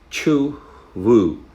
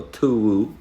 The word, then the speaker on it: Cthuwu: Having said that, Cthuwu or Cthuwu and C is silent.